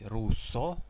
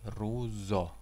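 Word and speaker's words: ruzo: Например, если сказать «руссо», это будет уже «русский». А если мы хотим сказать именно «хитрость», то нужно произносить «рузо».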